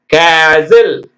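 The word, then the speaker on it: castle: இட் போடுறாங்க தமிழாக பண்ணும்போது தப்பு வாட்ச் கேட்ச் லிசன் கேஸில் கேஸில் சிஏ எஸ் டி எல் இ கேஸில் டிச்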